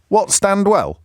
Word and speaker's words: Whatstandwell: Whatstandwell? Hi, yes. Hi, James. How do you pronounce that? Whatstandwell. Has it got a D in the middle of it, or is it just Whatstandwell?